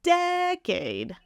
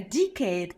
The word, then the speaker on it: decade: No, so syllable stress on the first one. Decade. I've spent in fintech. I spent a decade in fin industry. Decade. And I'm decade. Like a deck of cards.